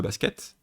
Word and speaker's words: バスケ: C'est vrai que littéralement c'est basuke, mais quand on a le son se qui est coincé dans des consonnes, par exemple on a un ke derrière, ça devient basket.